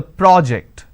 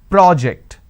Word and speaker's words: project: So when I'm stressing on the first syllable, it becomes a noun. That means please submit the project. I say project.